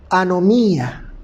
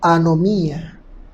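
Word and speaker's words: ἀνομία: la palabra infracción infringe viene de una palabra griega que se pronuncia como anomía anomía que quiere decir sin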